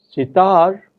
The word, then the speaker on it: sitar: In the word sitar, even words such as bimar, it is the final syllable which is stressed, tar and mar.